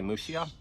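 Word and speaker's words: Muxía: John Peter pour all the ways hopefully to a finished area mushiya whoever corrected me for only yes pronunciation of mushi I thank you they did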